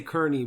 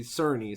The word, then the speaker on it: Cerny: of a mark cerney i used to say kearney but i i looked it up and they say cerny so i'll say it like that who developed a little